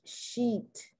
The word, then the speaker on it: sheet: on your bed sheet some people and i think it's because of the language they pronounce the e in sheet like the short i once again it becomes a vulgar word so you must make